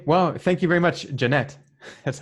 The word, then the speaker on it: Janett: right interesting okay well thank you very much Jeannette that's how you pronounce it yep all right have a good